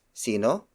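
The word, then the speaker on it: sino: means who is this word for world it's C no tow c no tow c no tow c no is spelled as s i and o it means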